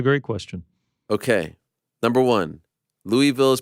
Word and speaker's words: Louisville: it was a great question okay number one Louisville is pronounced louville Lou of Ville by people who live in Kentucky two I